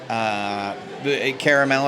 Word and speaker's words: caramel: Caramel, as it's spelled and as it's said correctly, Caramel.